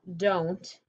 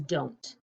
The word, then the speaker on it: don't: to point this out because don't and won't they rhyme this no longer sounds like do that's what makes it it doesn't say do it it says don't like won't okay so four tricky